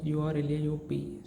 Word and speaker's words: Urlaub: But in German the B gives the sound pronunciation as P, right? We pronounce the B as P, right? So the urlaub, its pronunciation becomes as urlaub.